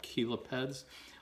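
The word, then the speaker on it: chelipeds: the big claws here are called caleb heads even though that is spelled c-h-e-l-i-p-e-d they're called kilo peds obviously used for grabbing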